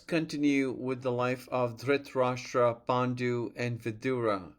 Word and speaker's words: Dhritarashtra: Dhritarashtra, Pandu, and Vidura, if I'm saying it right. You're saying it beautifully. And in fact, the Akashic field affirms your pronunciation is aligning with the original current of those names. Dhritarashtra, Pandu, Vidur.